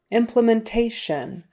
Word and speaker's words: implementation: learning curve curve implementation implementation so stress the second to the last syllable there implementation again that Tio n is always sh like u n shun Shan implementation implementation implmentation um just like that so we are ready